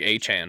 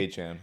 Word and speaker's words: Etienne: Like A-Chan. Yeah, it's basically A-Chan.